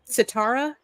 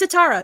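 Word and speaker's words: Sitara: sure I remember uh s it's satara SI t a r a it means star so yeah it's I mean she's she was the director writer and producer on that sound like the way it's spelled it sound like someone from Japan say star it's a little the spelling will always throw you off but you know you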